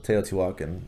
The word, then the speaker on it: Teotihuacan: so far it is teotihuacan t watkin is and a lot of people stumble over that i think that's actually how i pronounce the city so teotihuacan is how you pronounce it um heavy game um